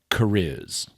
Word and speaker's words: C'rizz: apostrophe r i ZZ so that should be pronounced something like kuris but instead they've turned it the apostrophe into a completely Unwritten long vowel Caris yeah which is ridiculous and similarly his wife's